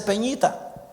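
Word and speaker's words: πενήντα: Lo correcto para decir 50 en griego se dice peñita.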